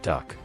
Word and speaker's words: DUKW: DUKW pronounced duck.